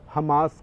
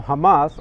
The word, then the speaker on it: Hamas: Now, where does the name Hamas come from? Now, Hamas, or Hamas as you would find it pronounced in the Western discourse and Middle Eastern discourse, that means in Arabic zeal, that's all.